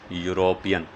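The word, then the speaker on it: European: से शुरू हुआ है, लेकिन साउंड इसकी भी क्या है? यो की, यूरोपियन। तो यो से इसकी शुरुआत हुई है।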